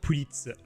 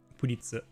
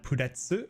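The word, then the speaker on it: プリッツ: I have to go with puritu puritzu. I'd say that's my go-to. So it is spelled like pretz and I used to call it petsu all the time.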